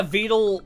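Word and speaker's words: Vedal: Is it meant to be like ve? Yeah. Vele pronounced like turtle.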